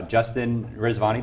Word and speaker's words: Justin Rezvani: bring this over to our special guest uh Justin rizvani did I say your name right we've known